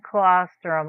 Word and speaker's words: colostrum: But also has and I'm going to pronounce this wrong. Liposomal boine colostrum.